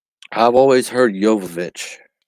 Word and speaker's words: Jovovich: j i've always heard jovovich like the j is pronounced like a y but like in spanish